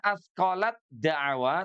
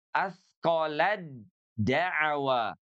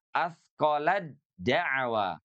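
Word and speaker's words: أثقلت دعوا: Tidak dibaca asqalat dwa, tapi dibacanya asqolad daw. dawallah yaqolatadwallah tidak dibaca asqalat dawah tapi asqolad dawa nanti hati-hati jangan sampai tertukar pada kalimat kadzabat tsamudu.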